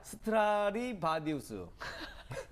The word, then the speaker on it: 스트라디바리우스: 특히 이제 그 악기 중에서 이 스트라디바리우스, 바디우스가 아니라 바리우스. 바리우스. 네네. 발음이 어려워요. 다시 한번 해볼까요? 스트라디바리우스.